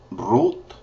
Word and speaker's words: Rut: hos judges is hes Ruth is Root Root got to roll your R root first Samuel is